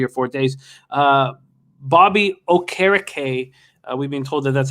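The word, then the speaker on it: Okereke: protocol in three or four days uh bobby o'carricay we've been told that that's how to pronounce his name now had 12 tackles uh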